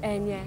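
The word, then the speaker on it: Eithne: It's E-I-T-H-N-A, but it's pronounced Enya in Irish.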